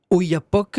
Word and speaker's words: Oyapock: long de presque 400 mètres au-dessus du fleuve Oyapock. Je sais que vous êtes allé dans le coin, Oui, je prononce bien, c'est ça.